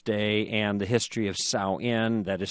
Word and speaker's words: Samhain: So I don't know why they spell it that way, but it's Samhain.